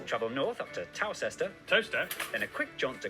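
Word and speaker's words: Towcester: north up to tower toaster then a quick jaunt to gotham goater followed by a stop in quite more gotham what did he say is gotham travel north up to tower sester toaster then a quick jaunt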